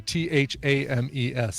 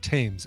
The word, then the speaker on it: Thames: show the river in London is the the th a.m. es it is pronounced Thames it is not tames everyone in the US and the UK knows